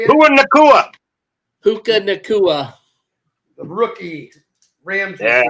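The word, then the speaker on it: Puka Nacua: I forget how to pronounce Paducah. Or how do you say it? Who in Nakua? Puka Nakua.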